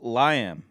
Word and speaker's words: Liam: It's pronounced Liam, by the way.